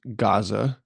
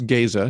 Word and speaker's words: Gaza: Um, there's a conservative group in northwest Iowa in uh what you would probably pronounce Gaza. It's Gaya here in Iowa, G- Aza.